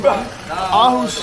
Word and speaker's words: Aarhus: It's because in Denmark, you know, in Aarhus, it's a double A, and double A is called O. Okay. AA is called O. O. You know, Aarhus is AA. R-I-H-U-S. So it's called Aarhus.